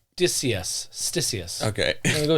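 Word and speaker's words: Ctesias: It's Stysius. Okay. I'm going to go Stysius.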